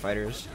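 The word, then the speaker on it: FighterZ: Okay, so it is pronounced Fighters.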